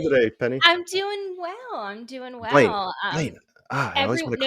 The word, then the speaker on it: Blayne: I was like, it's like it rhyme, Lane rhymes with Blayne.